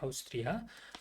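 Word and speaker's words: Austria: 이게 그 이탈리아 같은 경우는 이제 모음이 돼 AU 이렇게 하면은 오스트리아, 오스트레일리아 이렇게 영어로 이렇게 되는데 얘는 그냥 다 발음해 줘야 된다고 그랬죠.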